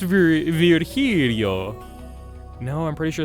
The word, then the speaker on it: Virgilio: It's pronounced Virgilio. No, I'm pretty sure it's pronounced Virgilio. You said as much the last time you came.